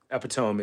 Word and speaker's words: epitome: National Lampoon's Christmas Vacation I did not mispronounce epitome epitome is the epitome of epitomies